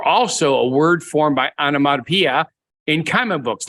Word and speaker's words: onomatopoeia: Onomatopoeia. I like to say that. Yes. Why? Because I don't quite say it right. So you always like to correct me. But you said it right that time, onomatopoeia.